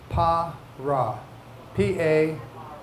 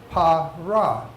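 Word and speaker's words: פרעה: All these historical events, Pharaoh is pronounced pra A. I'm sorry. No, it's pronounced parra. Par. P A R A H. P means mouth. Rah means bad.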